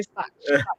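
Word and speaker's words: Stach: Stuck it is how you pronounce his name from leads. Yeah. Stuck.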